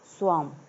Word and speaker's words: swarm: यहाँ देखिए इसे बोलेंगे स्वाम। क्या बोलेंगे? स्वाम। SWARM। यहाँ पर जो R है ये साइलेंट है, तो स्पेलिंग लिखेंगे इसकी, क्या हो जाएगा?